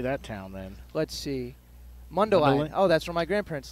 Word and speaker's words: Mundelein: do you say that town then let's see Mundo Island oh that's where my grandparents live Mundelein Mundelein Mundelein Illinois plays an Iowa Western Community